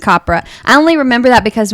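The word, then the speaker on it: Capra: the 40s and 50s rhymes with mapra opera copra frank copra i only remember that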